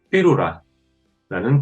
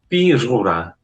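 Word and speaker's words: Pyrrhura: 그래서 실제로 읽으실 때는 피루라 RR이 발음이 납니다. 강한 히읗 발음이 납니다. 그리고 H는 묵음입니다. 그래서 실제로는 RR에서 H 발음이 나서 삐루라 또는 피후라라고 발음하셔도 크게 문제는 없습니다.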